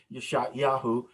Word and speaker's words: Yeshayahu: Isaiah, whose Hebrew name would have been pronounced something like Yeshayahu, Yahweh saves.